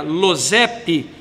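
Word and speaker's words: יוסף: O nome José, ou Losep, de origem hebraica, Losep, que é assim que se pronuncia no hebraico, Losep, significa deixe-o acrescentar, deixe-o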